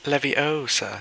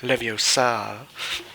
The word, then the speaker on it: Leviosa: hello what's hello um it's Leviosa not Leviosa yeah uh hello is hello